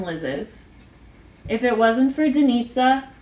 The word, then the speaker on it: Denitza: If it wasn't for Denitza, rhymes with pizza, initiating our GroupMe that